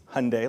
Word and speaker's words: Hyundai: to say the name it's Hyundai like Sunday or in this C we